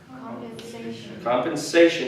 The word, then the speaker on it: compensation: okay what's rebalance compensation compensation again one of those shut words again the emphasis is on the syllable right before compensation compensation and basically compensation